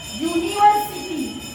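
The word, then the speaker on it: university: यहाँ पे यूनिवर्सिटी, तो यह, इसका उच्चारण य से आया, तो यह 12 खड़ी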